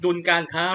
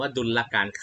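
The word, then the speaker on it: ดุลการค้า: การ ใน ส่วน ของ ดุล การ ค้า ระหว่าง ประเทศ นะ ฮะ อัน นี้ อ่า รถ ดุล การ ค้า นะ ครับ อย่า อ่าน ว่า ดุลการ ขา หัก นะ ฮะ เริ่ม ต้น การ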